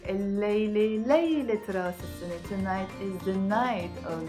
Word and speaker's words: رأس السنة: راس السنة pronounced as راس السنة, the head of the year which means new year.